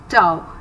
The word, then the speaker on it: tau: It is called as tau. It rhymes with the word wow, that builds up inside the cell.